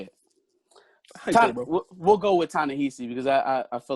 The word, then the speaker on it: Ta-Nehisi: how they're writing it, T'Challa is written by Tinashe Coates. Great run, and comic book fans out there. Isn't it Ta-Nehisi Coates? Ta-Nehisi. I've never known how to pronounce it. Ta-Nehisi Coates. Ta-Nehisi Coates, I think. It's Ta-Nehisi.